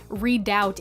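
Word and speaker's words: redoubt: even more confused because apparently read out is the way to pronounce it but the definition of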